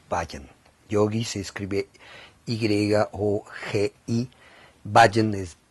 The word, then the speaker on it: Bhajan: Yogi se escribe Y-O-G-I, Bhajan es B grande H-A-J-A-N, Bhajan.